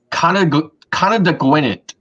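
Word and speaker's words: Conodoguinet: And the other one is an Indian word that in English is pronounced Conadagwinit.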